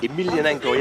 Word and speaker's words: Emelianenko: Emelianenko, yeah, that's the way you pronounce it.